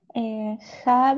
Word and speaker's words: have: Have you got version? Parrot? No, have. Bien, muy bien. El have lo vamos a pronunciar como si la H fuera una J.